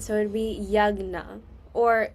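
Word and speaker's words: यज्ञ: So, it'd be yagna. Or like the the you don't pronounce the J. The J makes like a G sound. So, it'd be yagna shishtamrita.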